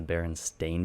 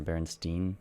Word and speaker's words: Berenstain: I like when I first found out that it was the Berenstain Bears, not the Berenstain or Berenstein. I think it's Berenstein is how most people thought it was. The last part's Stein.